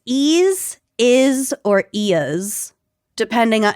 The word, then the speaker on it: eaz: Well, it's it was spelled as e a z Mhm. and a couple different sources said they pronounced it as is, ease, or eas. Okay. I'm going to go with eas because that was the first source that I found.